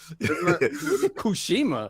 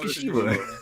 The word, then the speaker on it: Tsushima: Kushima. I like how he said it. It's Ghost of Tsushima.